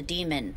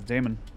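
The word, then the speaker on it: daemon: She had me hold the demon for you. It should work on any third-gen deck. Oh, it's pronounced demon? I thought it was Damon. Demon, okay.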